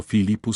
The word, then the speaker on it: Philippus: La H es muda pero si está con la P suena como una F. Ejemplo, Philippus se lee.